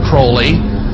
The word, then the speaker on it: Crowley: he likes to bring have his name pronounced crowley to rhyme with holy and uh the statements